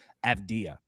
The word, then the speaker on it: Avdija: Avdija.